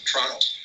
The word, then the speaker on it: Toronto: Toronto. Canadians don't pronounce the T.